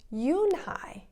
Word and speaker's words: Unhei: kids chanted no no yoon hai corrected it's spelled u-n-h-e-i it's pronounced yoon hai oh it's you hey